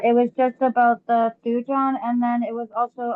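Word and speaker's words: thujone: and then the word that you guys just looked up, thu, it's a thujon. That's how you say it. It's thu and John.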